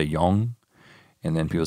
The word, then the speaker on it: Jung: Like I listen to a book and people say Jung. Then people say young, and then people say young. And I can already pronounce the word young, so I'm going to just say that.